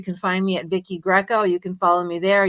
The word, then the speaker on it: Greco: Greco, just like Roman wrestling. Vicki Greco, Vicki Greco audience, the owner of Nevada Small Business Consulting.